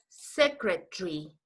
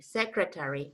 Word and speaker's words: secretary: You know, in England, this is said library. In England, you say secretary, military. But in the United States, you say library, secretary, military. Yes? Yes, the pronunciation is library. In the United States, library. In England, Library, okay.